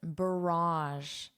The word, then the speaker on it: barrage: So don't look at the spelling because you wouldn't pronounce it the way I am based on the spelling. Because English is not a phonetic language. You can't learn the pronunciation from the spelling. So close your eyes, listen to me and repeat.